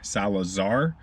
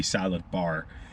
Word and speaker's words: Salazar: So instead of saying Salazar, they've called me Salad Bar.